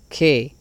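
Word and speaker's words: καί: Kai, que se pronuncia que.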